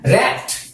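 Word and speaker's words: wrecked: आप सोचेंगे भाई डब्ल्यू का तो आप उच्चारण ही नहीं कर रहे, प्रोनाउंसिएशन हो ही नहीं रहा है। हाँ, तो इसलिए नहीं कर रहे हैं ना, क्योंकि डब्ल्यू यहाँ पे साइलेंट है। ठीक है, WRECK लिखा रहा है, लेकिन बोल रहे हैं रैक, डब्ल्यू साइलेंट है, ये बात आप ध्यान में रखिए।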